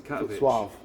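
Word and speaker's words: Katowice: Um, and the only flights we could get were to Katovich I think it's pronounced.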